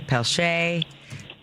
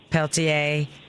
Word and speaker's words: Peltier: the state of Louisiana, they have different ways to say it. They say Peltier, Peltier, Pelletier, even though there's not two L's, but some people spell it that way.